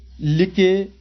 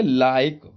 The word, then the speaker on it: like: क्या होता है, साइलेंट होता है। जैसे LIKE, GIUA और VIKE। अब इसको हम बात करें, लिके, गिवे, बिके ऐसे नहीं पढ़ेंगे।